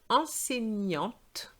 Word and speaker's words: enseignante: Then enseignante, and I have to pronounce the T because there's an E after the T.